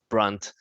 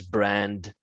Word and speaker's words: Brunt: No, Brundarkh is probably a slight combination of my surname, which is Brunt, and people tend to pronounce it as Brand and everything else.